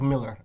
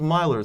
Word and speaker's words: Millar: I thought it was Myler, since it's a I A, was not thinking it's a A, but then I've heard they say it's Miller.